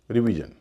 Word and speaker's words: revision: जैसे REVISION, रिवीजन। इसमें SION से पहले 2 वावल हैं, ई और आई, उच्चारण हो रहा री।